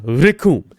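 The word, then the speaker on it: Recoome: The name's Raccoon, and it rhymes with Doom.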